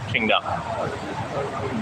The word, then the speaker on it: Tsingtao: You know, it's spelled like Tsingtao from China, Qingdao.